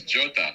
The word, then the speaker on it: Jota: Diego Jota? Is it Jota or Jota? Jota, it's He's Portuguese. Portuguese, so it's Jota.